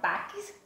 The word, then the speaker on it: táxi: Saiu o som do T, do A, do K, ó. Táxi, táxi, si.